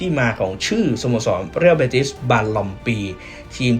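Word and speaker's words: Balompié: ที่ แปล ว่า เท้า แล้ว ทำไม ตัว N ใน ตัว ท้าย ครับ ถึง ต้อง เปลี่ยน จาก ตัว N มา เป็น ตัว M แล้ว ก็ ต้อง ออก เสียง ว่า บารอม ปี แทน ที่ จะ ออก เสียง ว่า บารอน ปี ตรง นี้ ก็ มา จาก หลัก ภาษา สเปน นั่น เอง นะ ครับ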